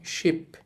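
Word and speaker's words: 십: যদি আপনাদের উদাহরণ দেই আমি এখানে লিখলাম শিপ শিপ মানে হচ্ছে 10 এখানে কিন্তু সিপ বলতেছি না দেখেন এখানে বলতেছি শিপ স এর মত বলতেছি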